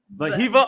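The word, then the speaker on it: Wehiwa: Vahiva Aloy. Vahiva. Vahiva Aloy.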